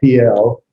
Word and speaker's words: Piel: It's called the PL because notice the first vowel is the herrick, I sound, and the second is a cetera, sort of a long E cell, PL.